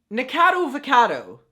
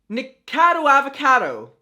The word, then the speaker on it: Nikocado Avocado: Nicado Avocado. Nikocado Avocado.